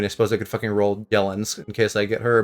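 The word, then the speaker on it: Yelan: It's not pronounced Yellan, is it? What? I've been saying, like, Yellen, it's Yellen. Yeah, Yellen is how you say it.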